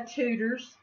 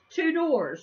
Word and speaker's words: Tudor's: Well, according to President Obama, Tudor's is pronounced Tudors. Who remembers that when he was here visiting? It was really funny to us because it's actually Tudor's biscuits.